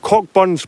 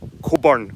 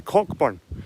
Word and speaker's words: Cockburn: on it and I'm near a place called cockburn's path down the Scottish borders there's more more